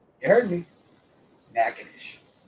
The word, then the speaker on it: Natchitoches: The name of this town is Natchitoches. You heard me. Natchitoches.